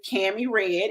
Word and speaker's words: Kami Redd: this to you Google me my name is Cammy red it's just like it's spelled across the screen you're GNA find me